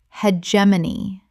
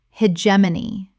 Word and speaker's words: hegemony: omnibus omnibus Word 158 hegemony common mispronunciation hegemony correct pronunciation hegemony four syllables with the stress on the second. The G makes a J sound.